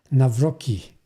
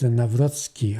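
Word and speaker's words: Nawrocki: Poland also, which uh his name is Carol Navroski. uh President Trump uh don't pronounce his uh name uh properly because he uh call him uh Navroi which actually proper name is Navroski.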